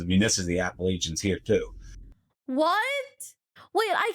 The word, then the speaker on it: Appalachians: I mean, this is the Appalachians here too. What? Wait, I keep hearing this word. The Appalachians? I'm saying it wrong. I've been calling it like Appalachians.